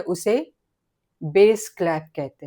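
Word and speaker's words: bass: स्थिर करते हैं उसे बेस क्लैप बोलते हैं। बेस क्लैप की स्पेलिंग है बी ए डबल एस। बास रहता है। पढ़ने में बास रहेगा। बास क्लैप लेकिन उसका प्रोनाउंसिएशन है बेस क्लैप।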